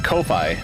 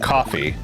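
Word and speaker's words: Ko-fi: pronounced Kofi or coffee it's k- fi and I think it's supposed to be like coffee cuz you're buying a person a coffee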